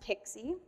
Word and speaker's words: PKCE: for code exchange and it's often pronounced pixie so authorization code with pixie device code and client